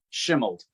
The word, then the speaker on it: Shimeld: Shimeld. That's why I pronounce it correctly that way.